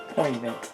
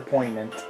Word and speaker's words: poignant: Poignant. Poignant, whatever. Poignant. Poignant, word. The G is silent.